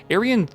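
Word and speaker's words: Erjan: Aryan, that's weird to say it that way, but it's like E-R-J-A-N, and you pronounce a lot of J's as like I, right?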